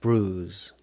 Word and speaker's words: bruise: 우리가 bruise라고 그래요. bruise. 그죠? 이 철자는 B-R-U-I-S-E예요. 그래서 bruise처럼 써놨는데 발음은 bruise예요. bruise.